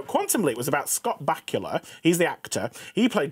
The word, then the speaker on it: Bakula: The way you say Bakura. It's Bakula. Scott Bakula. How do you say it? Bakula. No, it's not. It's not from Transylvania. That's always how it's been said.